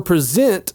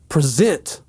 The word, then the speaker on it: present: This is a 2-syllable word and the second syllable is the one that's stressed, present. But if we simply change which syllable is stressed in this word, we get a totally different word.